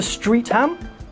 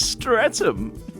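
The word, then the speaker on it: Streatham: Could you tell me how to get to street ham?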